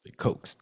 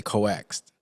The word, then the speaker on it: coax: always call it coax, coaxed. Yeah, okay. Uh, Yeah, I always say coaxed. I don't. I know Okay. it's pronounced coax.